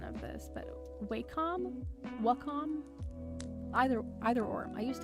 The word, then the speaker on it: Wacom: have um I always fumble on the um pronunciation of this but wcom Wacom either either or I used to have um